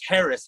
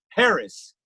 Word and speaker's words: Haracz: just search my name Harris and it's spelled just like it sounds har a cz Harris just like that goofy polish last name where you can go